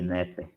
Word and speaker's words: Neper: A pronúncia é essa aqui, Neper, tá?